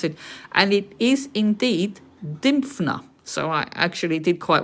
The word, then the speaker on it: Dymphna: this description it's now showing me how to pronounce it and it is indeed dymfna so i actually did quite well was a